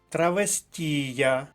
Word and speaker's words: травестія: вишиванка наступний блок слів травестія наголос на третій склад передостанній третій склад третя колонка Хто не знає що